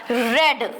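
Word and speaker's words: read: रीड है यहां पे but when we will change it into the third form तो वो क्या हो जाएगा रेड spelling is same but the pronunciation becomes रेड बाय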